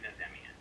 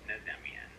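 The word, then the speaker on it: Nazemian: My last name is pronounced differently by everyone in my family, but I pronounce it Nazmian.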